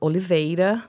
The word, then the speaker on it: Oliveira: my last name uh it's Oliva but yeah it's hard for Americans the are is is is tough so Dr always fine